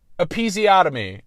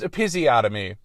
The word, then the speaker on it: episiotomy: Episiotomy. It's pronounced episiotomy, and I pronounced it episiotomy.